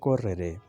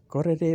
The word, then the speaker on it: correre: یہ correre بعض لوگ اسے غلط تلفظ سے بیان کرتے ہیں، پڑھتے ہیں. correre بھاگنا. correvo بھاگتا تھا. correvo بھاگتا تھا. آر کو آپ ڈبل کر کے پڑھیں گے.